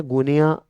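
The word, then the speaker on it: Guinea: Actual में इसका pronunciation है गुनिया, है ना, गुएना बिसऊ, उसकी राजधानी होती है बिसऊ।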